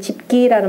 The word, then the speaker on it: 집기: 공작 집기와, 일단 집기라는 말 열십자로 읽지 말고 집이라고 읽어야 되는 거죠.